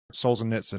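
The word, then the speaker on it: Solzhenitsyn: And there's a there's a book called The Gulag Archipelago by his name is Alexander Solzen Nitson, I think is how it's pronounced.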